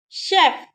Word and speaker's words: chef: Of, chef, chef. Here we are pronouncing the letter F.